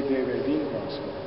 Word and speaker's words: derelínquas: So this is ne derelínquas. So in this parallel phrase, we have this word derelínquas, which has a very strong accent on the second to last syllable.